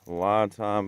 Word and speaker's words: LiFePO4: These are LiFePO4 batteries, properly pronounced LiFePO, and I'm excited to show you what we got here.